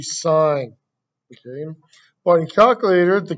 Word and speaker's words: sine: so the first one on your calculator it looks like a sin but it's not a sin we're not sinning it's actually sine okay but in calculator